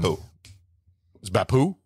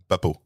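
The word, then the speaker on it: Beppu: uh um um um beo beo beo not beu well I'm thinking French it sounds French that's what C Chase's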